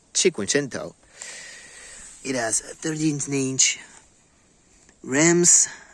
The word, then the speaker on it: Cinquecento: of course the 500 but in italian it's chikungento it has 13 inch